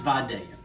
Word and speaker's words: Vidalia: Now, if you're not from the South, you might not know this, but the correct pronunciation is Vidalia. Okay, I've heard some chefs on TV refer to them as Vidalias and Vidalia, and so, no, folks, it's Vidalia onion.